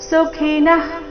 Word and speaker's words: ಸುಖಿನಃ: ಸ್ವರ್ಗ ದ್ವಾರ ಸ್ವರ್ಗದ್ವಾರ ಪರಮಪಾವ್ರತಂ ಸುಖಿನಃ ಕ್ಷತ್ರಿಯ ಪಾರ್ಥ ಸುಖಿನಃ ಕ್ಷತ್ರಿಯ ಮೊದಲನೇ ವಿಸರ್ಗ ಸುಖಿನ ನಂತರ ಬಂದಿರುವ ವಿಸರ್ಗದ ಉಚ್ಚಾರಣೆ ವಿಸರ್ಗದ ರೀತಿಯೇ ಅಂದ್ರೆ ಅರ್ಧ ಹ ರೀತಿನೇ ಬರಬೇಕು ಯಾಕಂದ್ರೆ ಮುಂದೆ ಕ್ಷತ್ರಿಯದು ಕ್ಷ ಕ್ಷ ಈ ಅಕ್ಷರ ಬಂದ ಕಾರಣ ಕ್ಷತ್ರಿಯ ನಂತರ ಬಂದ